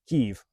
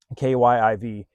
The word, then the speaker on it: Kyiv: Kyiv is the proper and Ukrainian pronunciation of the capital city of Ukraine. I didn't get told that. I didn't know that until a few days into my trip. Kyiv, Kyiv.